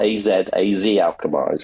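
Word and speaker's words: Alkmaar: So we went to PSB right after that and then finished up at uh AZ Alchemar, not AZ, AZ Alkar is how you pronounce it.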